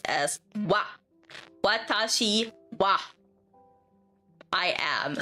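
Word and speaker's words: は: Now, the ha is also often pronounced as wa.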